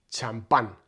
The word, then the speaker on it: champán: Tampoco existe el sonido sh de champaña, así que se adaptan de manera aproximativa.